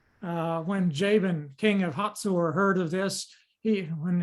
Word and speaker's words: Hazor: it's spelled hazer but it's pronounced with a t hot sore uh an old testament